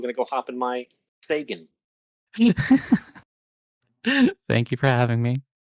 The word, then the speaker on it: Sagan: I don't appreciate how you pronounced Sagan there, Cheops. I will just say real quick, if the devs are listening, the balls on this man, after all three of you say it correctly, to then say Thagan was just astonishing.